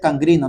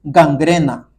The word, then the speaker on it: gangrena: La gente dice gangrina, no se dice gangrina, se dice gangrena, para que sepan.